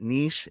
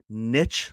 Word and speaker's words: niche: way I called it, niche. It's like sheesh. And there's another pronunciation, niche, like pitch. Nice velocity. In my opinion, either one is fine, but I've always said niche, so I'm going to stick to that.